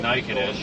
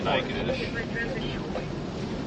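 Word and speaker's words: Natchitoches: It's kind of like Naked-ish, you know, it's spelled Nakatuchi or whatever, but it's definitely Naked-ish. No idea how they come up with that out of the way it's spelled.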